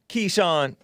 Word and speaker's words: Keechant: third day talking about ki chent or kichant how do they how do you say it black keyshawn keyshawn k-e-e-c-h-a-n-t sewell she's the one who is